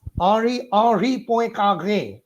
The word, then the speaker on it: Henri Poincaré: It is Henri Poincaré, a typical French pronunciation, who is just beside Marie Curie.